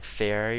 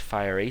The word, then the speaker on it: fiery: I was always saying fairy or something, but apparently it's pronounced fiery, so thanks guys for telling me how to pronounce things right, because I never can.